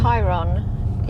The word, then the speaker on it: Tayron: I mean, why have TAY as Ty? Where in English is AY? Only in German. Is it in German? Tayron, yeah, that's how they pronounce.